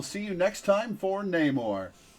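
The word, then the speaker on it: Namor: And unlike how some people have been pronouncing it and how some characters in this game pronounce it, it's Neymar, not Neore.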